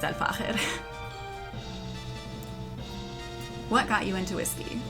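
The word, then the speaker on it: Al Fakher: Yes, it's pronounced Al-Fahir. I've heard a bunch of different pronunciations over the years. It's Al-Fahir.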